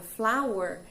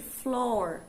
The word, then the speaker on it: flour: E cuidado com esta palavra flour, que significa farinha, para vocês não chamarem de floor. Algumas pessoas confundem e acabam que chamam de floor, e floor é outra